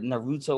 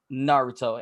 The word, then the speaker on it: Naruto: And I said Naruto or something like that. He goes, it's Naruto.